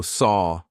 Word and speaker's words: saw: A lot of my students go saw or saw. I hear a lot of saw, but it's not. It should rhyme with door and saw, and war should all rhyme, they should all rhyme.